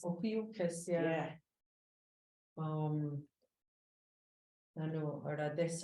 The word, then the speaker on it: Ophiuchus: Ophiuchus. Ophiuchus, yeah.